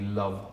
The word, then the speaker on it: Loev: in the same way the title only looks different but it's just love that's how it's pronounced it's just